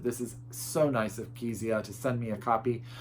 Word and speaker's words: Kezia: She gave me how to pronounce her name in this lovely letter that she sent me, and it is Kezia Frost.